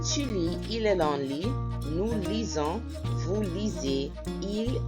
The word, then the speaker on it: lit: Je lis, tu lis, il est long, lit, like a bed. On lit a bed. Anyhow, let me not get you bothered. Je lis, tu lis, il est long, lit.